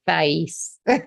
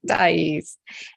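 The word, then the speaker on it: Deise: said her name wrong he called her thighs not dice and he also is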